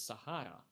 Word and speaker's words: Zahara: still playable but I I'm pretty sure it's pronounced as Sahara right I mean the Z and the S they sound pretty similar at the beginning of a word in Spanish so it's like you